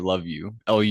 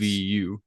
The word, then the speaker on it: Luvu: meant Luvu, but it's spelled Love You, so I've been calling it Love You. It's Luvu.